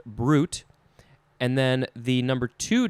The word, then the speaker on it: bruit: but in this case it's just pronounced brute b-r-u-t although it's spelled b-r-u-i-t it is a transitive